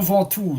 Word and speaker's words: Ventoux: Châteauneuf-du-Pape, Arles, le Mont Ventoux de Ventoux Mountain, Ventaux. I know that it's tricky in French. Some words doesn't pronounce the end of the letter, like Tous, Ventoux.